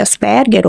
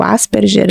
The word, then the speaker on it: Asperger: passada nós tínhamos ali a a síndrome de Asperger ou Asperger né conforme as as pessoas pronunciam eh tínhamos a síndrome de R por